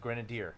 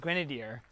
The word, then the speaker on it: Grenadier: have to remember but just think of grenadine Grenadier Grenadier and people always